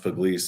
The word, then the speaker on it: Pugliese: Because like it's pronounced puglis. And then the whole time growing up, sports, all that stuff, my mom would always write like pug and then lease, like leasing a car house, whatever, next to it in parenthesis.